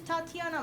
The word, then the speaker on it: Tatiana: you, my name is Tatiana. Like, oh, you're like the Titania. No, my name is Tatiana.